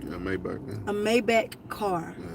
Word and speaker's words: Maybach: No, so, what we've heard, we don't know specifically, is that he bought her Gucci bags, a Maybach, was it, did I say it right? Yeah, Maybach.